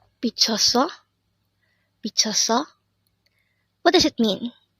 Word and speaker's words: 미쳤어: This pronounces a three-syllable word. The first syllable is mi, the second syllable is 쳤, and third syllable is 어. And this is pronounced as 미쳤어 or 미쳤어.